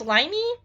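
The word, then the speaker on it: Lyney: here I think it's limey yeah I think it's Liney that is the uh pronunciation I'm pretty sure uh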